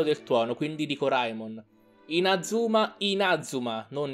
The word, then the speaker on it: Inazuma: Inazuma, Inazuma, non Inazuma.